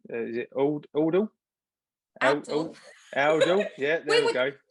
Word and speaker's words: Oundle: Excuse me, pronunciation. Is it Aldle? Aldle.